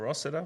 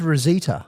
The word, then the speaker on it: Rosita: The I is not an E. The S is not a Z.